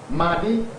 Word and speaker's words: Madi: Madi, actually that's the true pronunciation in the African setting.